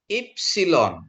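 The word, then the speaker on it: ύψιλον: Ipsilon. Ya, ini juga bacanya Bapak Ibu I ya. I. Ipsilon gitu ya.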